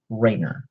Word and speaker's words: Rayner: rolla fan so Kyle Raina Lantern writer i believe is how he's officially referred to in here uh ray like ray of light nur ringer is a